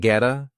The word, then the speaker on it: get: Get sounds like getta, move on.